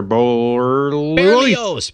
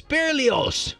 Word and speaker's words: Berlioz: And Hector Berlioz. Berlioz. Berlioz.